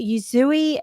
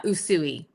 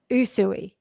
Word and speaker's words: Usui: Okay, I have to look at my notes so that I pronounce this correctly. She is a Yuzui Raiki master and you can correct me if I've pronounced that incorrectly.